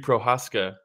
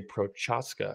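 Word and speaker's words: Procházka: Hey, that was good pronunciation. Let me hear your Jiri Prochazka. I don't know about, I spend more time trying to figure out how to say Jiri. I don't think you say Prochazka.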